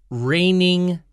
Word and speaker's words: reigning: has to defeat the reigning champion now g in this word is silent so it's not reckoning